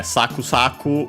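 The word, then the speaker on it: さくさく: But yeah, saku saku is, I wanted to mention the accent as usual on the first mora.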